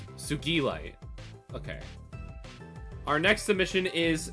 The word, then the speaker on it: Sugilite: how do you pronounce this? Is it like a G? Sugilite.